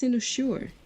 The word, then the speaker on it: Cynosure: Oh, that's pronounced Cynosure.